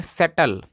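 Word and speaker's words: settle: अगर किसी भी इंग्लिश वर्ड में अगर लास्ट में ई आता है तो अधिकतर ई साइलेंट होता है। तो SE से, डबल टी से ट, और LE से ल। इसको पढ़ते हैं सेटल।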